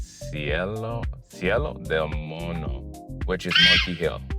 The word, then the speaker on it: Cerro del Mono: This hike that we'll be going to is called Sel demono. I'm not pronouncing it correctly. Let me try again. Sello demono, which is Monty Hill.